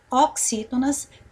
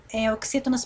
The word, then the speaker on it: oxítona: Agora, se nós fôssemos por aqui já classificar, qual é a sílaba tônica da palavra oxítona? Olha só. O X, né? Ó, o X e o I, vamos sublinhar.